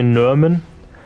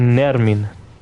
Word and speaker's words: Nermin: I always say Nerman, but my name is actually Nermin. You know? It's like I'm saying it wrong myself.